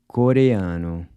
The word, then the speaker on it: Coreano: So here we have a mix of the two sounds, the “a” is pronounced /ɐ/ as in “Cuba” and the “o” is pronounced /u/ as in “boot”.